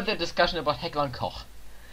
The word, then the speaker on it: Koch: And it's not Heckler and Koch, it's Heckler and Koch. Koch.